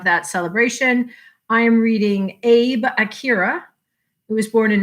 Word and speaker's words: Abe: uh and and and it's not abe it's abe abe i'm already being told i'm not saying it right abe okay so it's